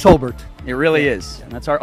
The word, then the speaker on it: Hobart: And by the way, is it pronounced Hobart or Hobart? It's Hobart.